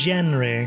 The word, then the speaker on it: Jenry: Jenry or It's Jenry. Jenry. Oh, Yeah. Jenry. Spelled how it's pronounced in your Earth tongue.